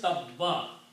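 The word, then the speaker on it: تَبَّ: When you stop here, the word is tabba. So if you continue, you have to pronounce Abi lahabim wa tabba. Sound the ba twice. If you stop, you still have to pronounce ba twice.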